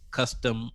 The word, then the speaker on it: cuSTEM: pretty interesting names like custom custom dreams yes it'll be pronounced like custom dreams yep but it's spelled